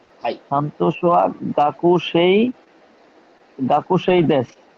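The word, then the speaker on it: 学生: সান্তোসুয়া সান্তোসোয়া গাকুসেই, high সান্তোসোয়া গাকুসেই দেশ, যা আরিমাসেন। যা সরি শান্ত যা আরিমাসেন, রাইট। আচ্ছা এই যে গাকুসেই কিন্তু জাপানিজরা বলে না, গাকসে, গাকুসেই।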